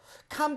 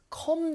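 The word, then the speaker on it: calm: 원하는 대로 쓰시면 되는데요 캄 다운을 실수 이런 분도 있어요 컴 다운 이라고 알고 계신 분들도 많아요 사실 하시 쓰셔야 lee 우왕 을 그것은 내려오라 는 뜻이죠 그래서 컴이 아니라 캄 대신에 매우 발음은 하지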